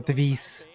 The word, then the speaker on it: TWIS: Он меня душит, что Твайс, это читается не Твайс, а Твис.